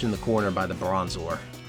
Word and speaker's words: Bronzor: Ambushed in the corner by the Bronzor. Or Bronzer, if you want to be very literal.